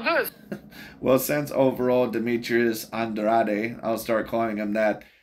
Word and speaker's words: Andrade: you know former Nation my last name is Andrade and so when they see me as son that sounds pretty sexy to me right and in America is pronounced Andre so I get it